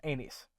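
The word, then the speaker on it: Aenys: that's not the theory whose name we always are very careful to pronounce Amy's Amy's so what if this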